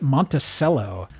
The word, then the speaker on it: Monticello: Weird fact about Monticello, they pronounce it Monticello.